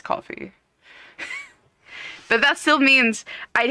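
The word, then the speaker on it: Ko-fi: And it's like, but that means I'd still have to find something for you guys, you know, or Kofi, which is not how you pronounce it, but it's coffee.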